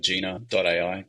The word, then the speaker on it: Jina.ai: I'd say like when you look at say something like Gina.ai, it's spelled Jina.ai.